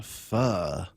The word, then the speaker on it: pho: It's the people Pho or pho? Pho. P-H-O? P-H-O. Yeah. It's pronounced like pho.